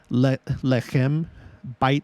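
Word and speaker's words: לחם: In modern Hebrew, it's lechem, lechem. That's how you pronounce it.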